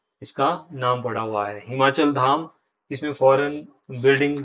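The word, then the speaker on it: Boileau: और जे जे बालू, जे टी बालू ने इसको डिजाइन किया है, बालूगंज जो नाम है वो इस बालू के नाम पर है, जे टी बालू, BOILEU, इनकी स्पेलिंग थोड़े ऐसे होते हैं, जे टी बालू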